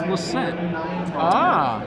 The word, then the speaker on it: Lissette: Actually, I should also note, Joe's last name is actually pronounced Lissette. His family name had an E on the end, but was removed a few generations back, and now it just gets mispronounced all the time, including by yours truly.